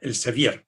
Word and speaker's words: Elsevier: El libro está publicado por Elsevier con tal cual suena, Elsevier, pronunciado en español con V, y Elsevier le lleva